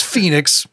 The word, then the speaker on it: Phenix: I love how the Phoenix, Virginia is spelled because it's Phenix. They were just like, no, it's not Phoenix. No, it's It's Phoenix, still with a PH.